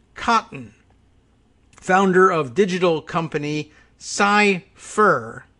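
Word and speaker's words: Cyfir: founder of digital company psy fur not cyber but cypher f i r and for whatever reason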